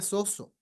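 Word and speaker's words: σώζω: tenemos a la izquierda en griego se pronuncia soso Sí y significa salvar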